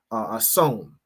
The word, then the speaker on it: Samhain: Halloween has its roots in the ancient Celtic festival of of hon, right, is how it's pronounced, which marked the end of summer and the harvest and the beginning of winter.